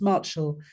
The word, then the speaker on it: Marchell: put an L just my name is pronounced Marshall um you don't you know